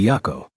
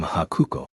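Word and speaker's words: Byakko: In Japanese, the character for white could be pronounced haku and co was one of the pronunciations of the character for tiger. When the two were combined to refer to the legendary white tiger, they were actually pronounced by Byako. But if you didn't know that, I guess you might mistakenly pronounce them Hakuko.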